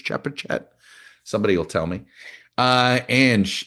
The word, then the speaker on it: Chepachet: Amy is writing from Shepachet, Rhode Island. It's spelled Chepachet. I'm assuming a soft C on that, Shepachet. Maybe it's Chepachet.